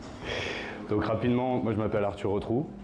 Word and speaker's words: Arthur Retrou: rapidement moi je m'appelle arturo trou donc ça s'écrit heureux comme on retrouve comme un trou ça c'est facile à